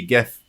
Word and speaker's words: GIF: The first word is graphic. It's a hard G. It's a hard G. Oh, Libby, do you say GIF?